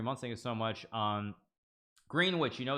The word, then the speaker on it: Greenwich: It's pronounced Greenwich. I know, Greenwich.